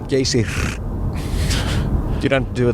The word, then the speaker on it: Geysir: You have to roll the R. Geysir.